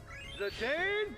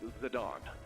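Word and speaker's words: Zidane: Zane bringing the pain. Baba, it's pronounced Zadon.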